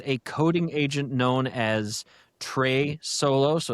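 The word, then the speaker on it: Trae: And uh the AI that enabled all of this was a coding agent known as Trey. Solo. So, it's spelled T R A E. So, Trey Solo in the word like solo, like Han Solo, speaking of Star Wars, right?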